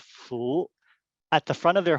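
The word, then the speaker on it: 福: So this here is the predominant Chinese who celebrate New Year, Lunar New Year, place this symbol, and it's pronounced Fu, at the front of their home or office on Lunar New Year's.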